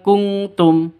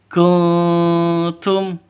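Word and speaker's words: كنتم: In kuntum, jadi bacanya bukan kungtum ya, bukan kungtum, tapi kuntum, samar. Oke, tapi siap-siap ke taknya.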